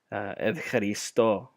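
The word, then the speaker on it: ευχαριστώ: person, you could always, this is how you say thank you. You say evcharisto.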